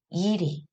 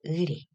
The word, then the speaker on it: 의리: 첫 번째, 의리, 이리. 네, 올바른 발음은 한 개죠. 의리.